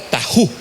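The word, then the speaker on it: ταχύ: el libro de Apocalipsis, es la palabra tajú. Y la palabra tajú, que viene de una raíz que se puede pronunciar como taco, imagínense, por eso no me olvida, ¿verdad? Taco, la raíz es taco o tacho, y esta palabra es tajú, pronto.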